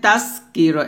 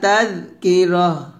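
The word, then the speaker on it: تذكرة: এখানে তাসকির এটা বলা যাবে না, আমরা ওখানে তা জাল জবর তাস বলি, মানে সিনের উচ্চারণ করি, তো তাস করা যাবে না, বলতে হবে তাজ, জিহ্বার আগাটা উপরের দাঁতের আগা লাগাতে হবে, তাজ এভাবে।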